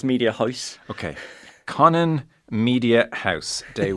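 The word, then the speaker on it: Mediahuis: This is actually one of the benefits from being where I'm from, because it's the one time I pronounce something correctly. It's Media House.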